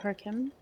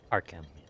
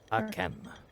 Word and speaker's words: Arkham: Harkim? Arkham. Arkham.